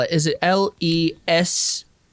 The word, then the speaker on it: Le Sac: Is it Lesaque? No, SAC, like a cul-de-sac. Le sac.